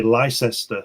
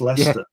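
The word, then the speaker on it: Leicester: The funniest one is the Americans say Lysester and it's Lester. Lester.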